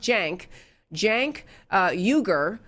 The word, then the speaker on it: Cenk Uygur: Well, there was one guy who was with them, with that group, and his first name is spelled C-E-N-K, but it's pronounced Cenk Uygur, which is spelled U-Y-G-U-R.